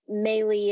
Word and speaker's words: Meili: with people most on Instagram and that's Katie meley potery and melee is spelled m i l i and it's actually